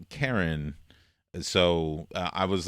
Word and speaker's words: Charon: ended up naming it Sharon but the official pronunciation of that moon they put a sha sound in front instead of Charon so I was like